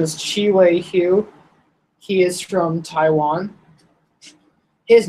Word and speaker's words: Hu: So his last name is spelled H-U, but his nickname is spelled like Who with a question mark, or that's what the nickname was, which is funny.